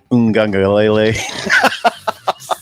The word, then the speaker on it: Uiagalelei: Uiagalelei. Well, I don't know. Did you pronounce it right?